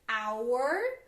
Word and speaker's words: hour: quem está aqui olha como a gente pronuncia diferentes com da palavras que diferente hour tô usando um som de vogal our embora começa com funções